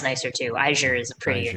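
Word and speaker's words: Eigr: I think it's Iger. Iger. Iger. Cool. It's Iger. Iger. It's Welsh. The G is soft. Mm. Then yeah, sure. That sounds nicer too. Iger is a prettier Iger.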